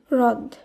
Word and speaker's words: হ্রদ: হয়রফলা দ হ্রদ, এখানে হয়রফলার উচ্চারণ হবে ইংরেজি আর এইচ এর যেমন উচ্চারণ হবে তেমন, হ্রদ।